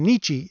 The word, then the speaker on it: Nietzsche: topic that i touched on with feminism and nietzsche a while ago and yes that's how i